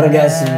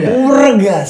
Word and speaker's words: Wregas: Jawa dibacanya o Regas Oh w-nya dibaca ya wreges Oh gua kira the W silent the W silent the W Sangga ya wregas wregas artinya apa Mas wregas